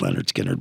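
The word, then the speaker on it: Lynyrd Skynyrd: that's their debut um called pronounced Leonard skinnard but second helping came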